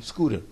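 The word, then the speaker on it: Skut: t sco and then the t is usually pronounced with a d for some reason scooter yeah all right scoter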